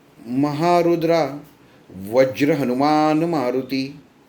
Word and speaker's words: महारुद्रा: आ गया भीमरूपी महारुद्रा यह महारुद्रा का जो उच्चारण ना वह नीचे की स्वर में जाता है क्योंकि उसके अंदर